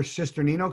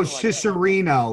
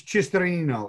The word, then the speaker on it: Cisternino: People always go Cicerino. Like they leave Cisternino. Out an N. Cisternino. It's if you're Italian, it's Cisternino.